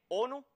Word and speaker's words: ONU: pronunciarla como una palabra así pues tenemos ONU que se lee ONU y no no o n verdad hasta aquí espero